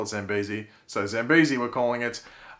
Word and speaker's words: Zambezi: But essentially Mari got injured because Amaya being displaced from Zambezi, or Zambezi, however you want to pronounce it. I call it Zambezi.